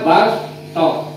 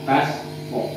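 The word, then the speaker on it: بصطة: Misalnya awalnya shad dibaca sin, kan? Yang itu loh, tulisannya bas to, cara bacanya pakai sin, bas to.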